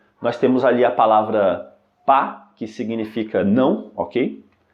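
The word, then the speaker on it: pas: temos ali a palavra pá que significa não ok e ela possui um s no final que é mudo portanto a pronúncia correta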